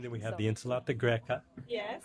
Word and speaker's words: greca: And then we have the insalata greca. Yes. How do you say greca? Greca. Greca. I love it. They actually pronounce their C's with an H. So that is the Tuscan way.